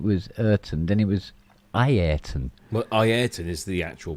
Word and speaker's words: Ayrton: And he kept changing Ayrton Senna's name, kept pronouncing it differently from one season to the next. It was Ayrton, then it was Ayrton, then it was Ayrton. Well, Ayrton is the actual pronunciation.